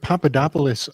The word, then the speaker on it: Papadopoulos: So that word Papadopoulos kind of in my ear it rhymes with the Pope's twin.